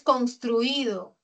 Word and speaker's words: construido: Tengo la sílaba tónica en truí. No lo puedo separar porque este es un diptongo de vocales cerradas. Jamás se separan. Por lo tanto, es grave. Termina en vocal, no se tilda.